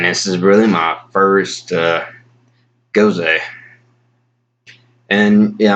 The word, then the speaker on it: Gose: goes a and yeah I'm pretty sure to be pronounced goes a is spelt G o s B but if it originated in northern Germany then the EES going up make it sound like goes a this is gonna sound